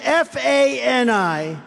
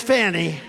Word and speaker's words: Fani: Now, even though I believe it's spelled F-A-N-I, to my way of thinking, that's Fanny. But once she became the district attorney, I think she put a little emphasis on the U. Fani.